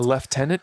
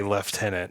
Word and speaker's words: lieutenant: colonel in the Army a leftenant colonel leftenant colonel no you live in the states again you were over there for one year you can't say left tenant at this point 13 months how often